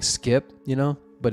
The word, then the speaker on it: SCP: come on just say say this skip and rip thank you that's how you say it skip okay let's move on